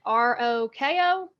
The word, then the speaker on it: Rockovich: And then Rockovich is Rokkovich. It's Rockkovich. It's so funny.